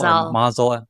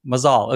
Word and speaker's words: Mazal: Mazal. Mazal, okay, cool. Jorge Mazal, yes. Okay, there's the right pronunciation.